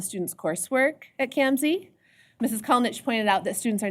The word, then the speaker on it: Kalnins: Mrs. Kalnich, and no, it doesn't look like Kalnich, but that's how we say her name.